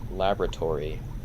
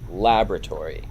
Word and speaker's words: laboratory: like Labrador but Tori Laboratory. What's interesting about that as as well is that we're putting the stress on a different syllable like laboratory versus the British people they say laboratory. Labrador.